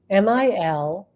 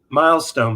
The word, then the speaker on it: Milstein: MILSTEIN 80. I can't. No, it's not Milestone, because that was a name he took later. So it's Milstein, I believe is how he would pronounce it.